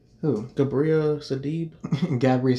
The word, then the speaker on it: Sidibe: Gabriel Sidibe. Gabriel Sidibe. Sidibe, yes.